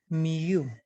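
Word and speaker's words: μ: the greek alphabet is it is pronounced as miu okay so when you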